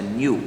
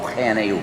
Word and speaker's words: GNU: La palabra que se escribe GNU en castellano se pronuncia new. Bien. No GNU, Bien. sino new.